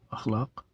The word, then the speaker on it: اخلاق: نام نہیں ہو سکتا۔ تو اخلاق درست تلفظ ہے۔